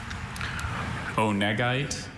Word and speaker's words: onegite: Can you repeat the alternate pronunciations? Onegite or onegite.